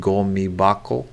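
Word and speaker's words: ゴミ箱: i think i remembered it from the word gomi bako it's bako because it's you know on the second syllable and it changes the hakko changes tobacco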